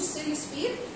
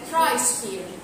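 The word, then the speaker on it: cryosphere: طيب هي بس معلومه كنت قلتها المره اللي فاتت، السيريوسفير هي للاسف مش سيريوسفير، هي كرايوسفير. تمام، انا بعتذر عن النطق، اسمها كرايوسفير.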